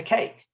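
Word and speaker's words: CAIQ: the cloud for inst you may want to use the cake that's how they pronounce it the cake is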